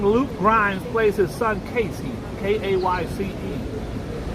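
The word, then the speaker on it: Kayce: fastest rising Maine Casey is spelled k-a-y-c-e oh I get it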